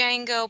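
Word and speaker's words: Django: DJ n g o I think the D is silent oh and that is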